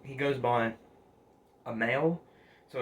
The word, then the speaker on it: Amail: I think the guy's name, he goes by Amail, so it's spelled capital A and then M-A-I-L, so A and then mail, like mail you get in the mailbox slot, so mail.